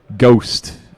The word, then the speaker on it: Ghost: And then Ghost has announced... I believe it's pronounced G-Host. Yes, G-Host.